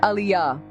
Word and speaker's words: Aliyah: It's pronounced Aliyah. She sounded out each syllable with care.